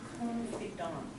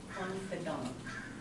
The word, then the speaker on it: confidant: It's pronounced, it's from the French, and it is the same root as this, but this is pronounced confidant. Even in English, we pronounce it kind of like confidant.